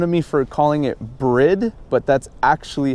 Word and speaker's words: Bride: people make fun of me for calling it bread but that's actually how you pronounce it everybody pronounce it bride pronounces it bride but it's actually bread alright guys so get it right so Brit